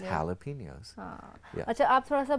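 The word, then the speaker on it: jalapeños: Or jalapenos, which is pronounced jalapenos.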